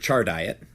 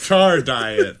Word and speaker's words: Chardiet: By the way, the music was composed by Margaret Chardiet. I'm pretty sure that's exactly how you say it. Char diet. Chardiet. What else could that be? Phonetically, it makes sense.